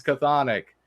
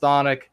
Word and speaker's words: chthonic: so I have been vindicated everybody who says cathodic it's time to stop it is pronounced chthonic as I recall thank you good sir vindication